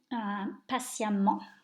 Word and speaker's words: patiemment: If your adjective ends in ENT, even though it's still that en sound that you have in A-N-T, you replace the ENT with E-M-M-E-N-T. But it's the same pronunciation, so we go from patient to patiemment.